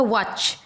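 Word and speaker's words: watch: वॉच, वा डब्ल्यू ए वा, सी एच च, टी ओमिट हो रहा है। टी मतलब टी का प्रोनाउंसिएशन नहीं आ रहा है, उच्चारण नहीं हो रहा है।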